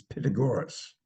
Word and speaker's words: Pythagoras: stood up and said, "Well, triangles, and you mispronounced it. It's Pythagoras."